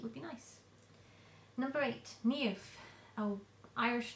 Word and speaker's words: Niamh: be nice number eight NE a Irish name very difficult to pronounce from the spelling but NE n i a m h uh I think it's